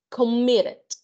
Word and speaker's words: committed: Commit, committed. And that's it. De 2 sílabas, pero que el mayor punto de voz, el mayor alce de voz va en la segunda sílaba.